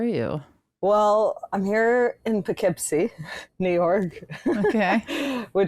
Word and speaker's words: Poughkeepsie: Well, I'm here in Poughkeepsie, New York. Okay. Which I I I called like Puffkeepsie until this morning and someone corrected me.